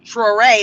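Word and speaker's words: Traoré: Um I didn't write it down, but you can Google it or go on to YouTube and type um Troé. That's spelled T R A O R E.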